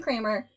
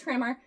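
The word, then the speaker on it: Cranmer: So 1532, John Kramer, his name is spelled Cranar, but that sounds weird. It's like C R A N M R. Anyway, he t Did I say John? It's Thomas. Thomas Krammar, Archbishop of Camp Terberry,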